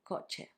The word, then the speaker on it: coche: It's CH, which makes ch, like in coche, which means car.